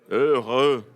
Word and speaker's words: heureux: Heureux. Ça, Il y a quelques sons en français qui sont toujours difficiles parce que ce sont des sons qu'on ne prononce pas en portugais.